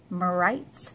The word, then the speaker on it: Merytes: by 25 portable binoculars by rights I believe that's how you pronounce their name em ery tes I was so eager to